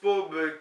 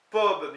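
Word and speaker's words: Pobl: Neus, donc négation, aucun, Pob, qui s'écrit P-O-B-L, mais qu'on dit Pob, semble-t-il le N ne se prononce pas pour peuple, Ken, donc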